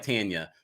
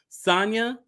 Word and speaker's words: Sanya: see how sanyas sanya i hope that no now i'm pronouncing like tanya sonya there we go fits in with the